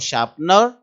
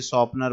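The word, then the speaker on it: sharpener: बहुत सारे इसे शॉर्पनर बोलते हैं, कोई क्या बोलता है, तो please pay attention to the correct pronunciation, सही उच्चारण पर ध्यान दें, शार्पनर।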